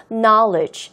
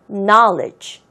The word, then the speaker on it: knowledge: 발음은요, knowledge 이렇게 하는 게 아니라 K가 묵음이 되는 거예요. knowledge. 한 번 더. knowledge.